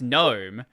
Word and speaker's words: GNOME: are you saying it as gnome it's it's pronounced gnome I'm like I've had these conversations in real